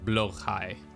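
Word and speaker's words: Blåhaj: But it's pronounced like blowhai.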